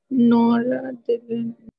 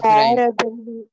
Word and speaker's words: noradrenaline: If you see, it's exactly adrenaline. But then, what is the next word? Just nor is added to it.